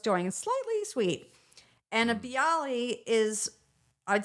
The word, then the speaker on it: Bialy: And you also have is it pronounced Bialy? Bialy, yeah.